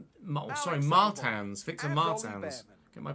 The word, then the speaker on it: Martins: struggle we will be starting P 16 Victor Martins sorry Martans Victor Martans get my pronunciation correct I apologize Zach Maloney in P9